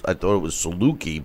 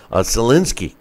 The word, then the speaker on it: Soliński: I thought it was Saluki, but Soliński is how they were pronouncing it.